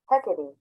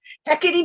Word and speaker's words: Hecate: you know super duper close according to google heckety hecate that's how it's pronounced hecate heckity darn i know i'm like that doesn't sound